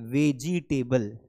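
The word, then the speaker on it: vegetable: तो यहां पर आपको ध्यान रखना है कि जहां पर अभी जी को लंबा खींचते हैं, वो जी लंबा नहीं जाएगा। इसका सही उच्चारण होगा वेज टेबल।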